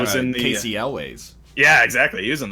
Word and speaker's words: Elwes: You're talking was about in the, Casey Elways. Yeah, exactly. He was in the first one. Casey Elwes? I think it's Ellis. I think that's how you pronounce it, actually.